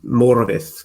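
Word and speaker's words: Morfydd: her name is um it's a tough first name to pronounce this you have to roll the r actually it's it's morovith clark clark you don't have to roll the r quite that much hey come on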